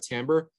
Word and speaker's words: timbre: timbre is very uh first of all it's pronounced timbre which is so weird there's an eye in